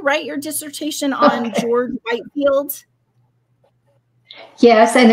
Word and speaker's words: Whitefield: your dissertation on George Whitefield yes and it's pronounced Whitfield that spelled Whitefield yes many years ago